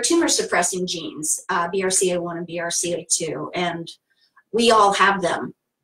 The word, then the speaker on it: BRCA: right BRCA is correctly a lot of people know it as Branca the Bronco gene but it's really the correct way to say it is BRCA right I guess a